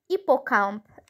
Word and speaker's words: hippocampe: Donc, hippocampe. Hippocampe. Ça commence par un H muet.